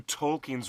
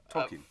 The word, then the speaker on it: Tolkien: It's Tol with the emphasis T-O-L-L, and the last syllable is keen, as in, I'm keen to meet you.